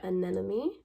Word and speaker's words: anemone: Next up, I have this pack of anemone. Yes, I had to Google how to pronounce this because I was not going to butcher it in YouTube land.